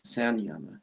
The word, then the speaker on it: Samyama: Well, what's the two primary things they teach in Samyama Yoga? Also, some people pronounce it as Sanyama yoga.